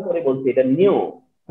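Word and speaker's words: nu: ইউ না, আমি এটা উচ্চারণ করতেছিলাম, তোমরা ফলো করো, আমি উচ্চারণ করে বলছি এটা নিউ, নিউ, ঠিক আছে?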